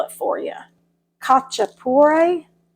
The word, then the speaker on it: khachapuri: I'm going to try to pronounce it and then I'll spell it for you. Khachapuri, Khachapuri.